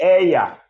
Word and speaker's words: ella: So that she stands for ella or eja, depending on how you want to pronounce it. If you pronounce it eja, you're right. If you pronounce it ella, you're also right.